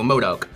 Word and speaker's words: MODOK: Oh yeah, M-O-D-O-K, so MODOK. MODOK?